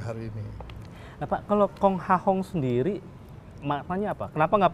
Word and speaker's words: Kong Ha Hong: Nah, itu kami bacanya Kong Hahong karena kami dari Kanton, dari Hokkien bacanya lain lagi.